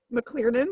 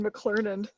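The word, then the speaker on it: McClernand: did gym pronunciation police mclearnon do you mean mclernon eer versus er yeah you just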